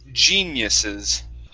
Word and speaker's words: geniuses: Yeah, give me a J sound at the beginning. G. Geniuses.